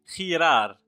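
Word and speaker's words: girar: هذا الحرف يمكن أن ننطقه خ، وكذلك يمكن أن ننطقه غ. ننطقه خ إذا جاء بعده أ أو إي. أعيد، ننطقه خ إذا جاء بعده أ أو إي. مثلا خنتي، خنتي الناس، خنتي. كذلك خيرار، خيرار انعطف، خيرار انعطف. كما لاحظتم ننطقه خ.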